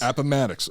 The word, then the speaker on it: Appomattox: at the opponent or i don't know matics appomattox okay i've i've only read this stuff so i i didn't know how to how to pronounce it appomattox courthouse marking the end of the civil war